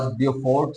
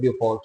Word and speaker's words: Beaufort: और यहाँ पर हमारे पास हमने एक सी को डिस्कस किया था, that was ब्यूफोर्ट C, beautiful वाले स्पेलिंग BEAUFORT, ठीक है।